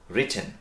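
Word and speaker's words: written: তারপর right, রোট, রিটেন, এখানেও কিন্তু উচ্চারণগত বিষয়টা মনে রাখতে হবে, রাইটেন না।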